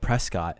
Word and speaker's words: Prescott: you think it's pronounced the name is spelled p-r-e-s-c-o-t-t what is that place called that's prescott my guy prashadi in arizona people get people from arizona specifically get pissed off when you call it prescott because it's pronounced prescott arizona you people you people are